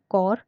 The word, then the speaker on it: corps: किया है, बहुत से लोग इसको भी अभी कॉप्स ही याद रखते हैं, कॉप्स ही बुलाते हैं, कॉप्स ही उन्होंने दे रखा है। लेकिन अगर आप एग्जैक्ट की बात करते हैं तो एग्जैक्ट इसकी प्रोनाउंसिएशन कॉर है।